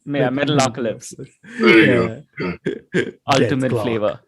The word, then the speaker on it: Metalocalypse: Metalocalypse. Yeah, Metalocalypse. There you go. Ultimate flavor. I know. I had to hear somebody say it before I could pronounce it too.